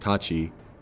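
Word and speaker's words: 八: The choice of the number 86 is a cute little Japanese pun, as you can shorten the Japanese numbers 8, pronounced Tachi, and 6, pronounced Roku, making Haro, which sounds like Hal, the developer of this game.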